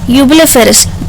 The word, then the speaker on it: Eublepharis: Family से belong करता है, जिसका नाम है यूबिलिफेरस। प्रोनाउंस करना भी बहुत मुश्किल हो रहा है, EUBLEPHARIS इसका नाम है।